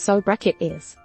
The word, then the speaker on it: sobriquet: You could perhaps then refer to yourself in your namesakes as sobriquets, which I would pronounce as sobriquets.